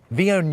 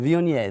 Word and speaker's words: Viognier: And what I like to pair this with was a little bit of Viognier. Viognier, Yes. that's how you say it. Viognier.